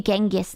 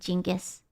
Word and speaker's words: Genghis: You guys pronounce it differently. Uh, Genghisan. You guys say Genghis, not Jingis.